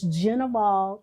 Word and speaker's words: Gnivol: they don't spell it or they don't actually pronounce it it's genal events but if you look at G ni